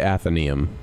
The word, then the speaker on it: Athenaeum: Well, we go by Athenaeum. There's some people who pronounce it differently, but Athenaeum is the standard.